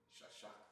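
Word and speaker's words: שש: Shasha.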